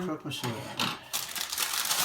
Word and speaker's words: croque monsieur: We're gonna have our, how's this pronounced again? Croque monsieur.